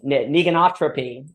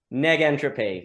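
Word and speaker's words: negentropy: the word right uh you could say uh Meg entropy neg entropy thank you sir this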